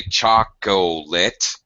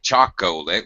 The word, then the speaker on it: chocolate: speak them like nobody in english speakers don't say chocolate i like chocolate we say i like chocolate it's a drop syllable same thing happens with